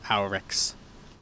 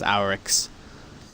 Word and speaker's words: Oryx: the original hive it's it's our it's actually pronounced our x all right because it's a r i o r a or x i mean it could be yeah the closest pronunciation is our x um and actually haniqua the mystery of crota's